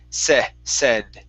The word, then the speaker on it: said: is uh uh said instead of say it said it said short e okay one more time instead of saying okay pronouncing that e sound it's said there you go good all